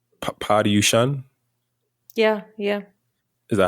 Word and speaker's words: Paryushan: Paryushan, Yeah, yeah, is that how you pronounce it?